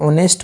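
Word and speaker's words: honest: तो यहां पे एच साइलेंट होता है। तो इसकी जो साउंड है जो प्रोनंसिएशन है ये है वोवेल की।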